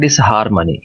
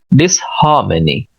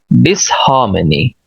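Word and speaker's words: disharmony: अब इसको हम पढ़ते हैं डिसहार्मनी, ये ऐसे नहीं है, ब्रिटिश इसको यूं पढ़ते हैं, DIS, डिस, आगे स्ट्रेस के साथ हा और आ, हा, डिसहा, मा ए ना ई, many, many, हार्मनी, डिसहार्मनी, डिसहार्मनी, डिसहार्मनी।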